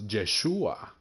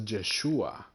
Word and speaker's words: Yeshua: it in English but his name was jeshua it wasn't Jesus uh it was Yeshua so it's kind of like Joshua as well the Son of God